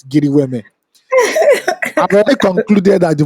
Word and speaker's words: GRWM: Giri Weme is called Get Ready With Me, GRWM. But we pronounce it here in Nigeria for the streets, Giri Weme.